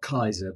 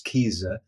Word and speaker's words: Keyser: specify that because my my last name is spelled k-e-y-s-e-r and people often say uh Kaiser but it's Kiza and I call myself